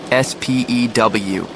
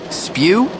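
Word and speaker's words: S.P.E.W.: In careful script were the words SPEW, the Society for the Promotion of Elfish Welfare. Ron burst out laughing. Spw it's pronounced S P E W.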